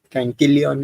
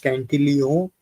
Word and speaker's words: Cantillon: that the Cantillon effect, the Cantillon word itself is French, so it is supposed to be pronounced Cantillon.